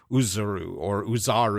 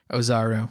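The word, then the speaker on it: Oozaru: But then the final fight scene happens, and it's revealed that, surprise, Goku is actually Uzaru or however they pronounce it. Ozaru, yeah.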